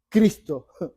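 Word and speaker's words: Χριστός: La palabra en hebreo se pronuncia Mesiaj y en el griego se pronuncia Cristo.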